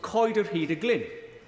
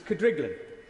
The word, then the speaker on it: Coed yr Hyd y Glyn: To my amazement, she said that the one she recalls best was Coed yr Hyd y Glyn, a property within my constituency that even locals wrongly pronounce as Cydriglan.